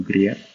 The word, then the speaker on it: Greer: Greer or Greer?